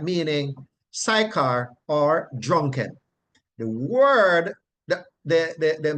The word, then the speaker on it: Sychar: text is Sychar, and we pronounce it as Sychar, but the Greek word transliterated comes across same Sychar, but it is really pronounced Suhar, Suhar, Suhar, but there's a emphasis on the H.